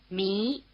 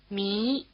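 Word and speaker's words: Mi: Me. Notice that the sound E is spelled with an I as in Tahiti. Try repeating. Me.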